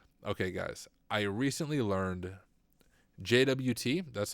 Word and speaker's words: JWT: Json web tokens okay guys I recently learned JWT that's how I say it is pronounced jot does anyone in chat pronounce jwts as jots